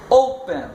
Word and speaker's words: open: Open. Então a tônica está no O.